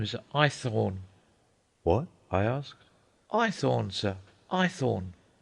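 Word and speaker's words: Haythorne: Ithorn, sir. Eythornne. Spell it.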